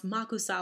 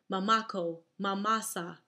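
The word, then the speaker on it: Makossa: my father was astonished can't you pronounce makusa like everyone else you stutter mamako masasa you think they're going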